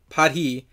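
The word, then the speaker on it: paidhi: or that paid he padhi I'm gonna call it party because that sounds more appropriate that's how it's said in the Ativan language in a mostly superficial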